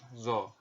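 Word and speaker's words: ظ: Nah, huruf zo ini diucapkan dengan menyentuhkan ujung lidah dengan dua gigi seri bagian atas, sebagaimana kita mengucapkan huruf dha. Jadi mirip sekali dengan huruf dha.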